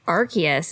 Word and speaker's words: Arceus: Well, they also obviously showed off Arceus is how they were saying it. So yeah, I will admit that I was wrong. I've been saying it wrong last time, and it looks great.